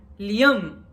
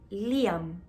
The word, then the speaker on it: Liam: yo quiero liar no y aquí en brasil pronuncian lyon y el lyon y yo liam no entonces me resistí gracias